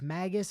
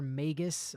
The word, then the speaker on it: Magus: word and one that I've changed my pronunciation on me many times over the years like whether it's maggus or Magus or Magis or Magis like I think those are all actually appropriate depending on like what um what dialect